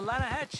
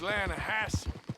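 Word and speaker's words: Lannahechee: no no no no the the lahache it runs right near here yeah but it's pronounced lanahassee why is everything in English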